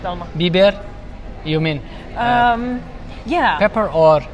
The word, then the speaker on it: biber: Biber.